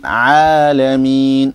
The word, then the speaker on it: العالمين: So Alhamdulillahi Rabbil Alameen. Rabbil Alameen. Okay? And then the other thing is the ayn. You have to pronounce the ayn in Alameen.